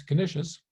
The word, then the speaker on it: Canisius: In his pairing of the Catechism of the 16th century Jesuit Peter Canisius, whose last name I prefer to pronounce Canisius, and the Garland of